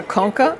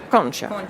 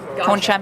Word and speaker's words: concha: And on one one I saw cona and one I saw concha. It's a shell. Koncha means shell.